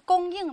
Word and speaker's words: 供: 注意它在念供应的时候，有的小朋友读的是第四声就不对了，也是第一声。